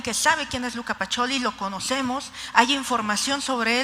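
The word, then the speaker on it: Pacioli: nombre en algunos casos nos tuvieron que decir que se pronunciaba pacholi Pero sabemos que es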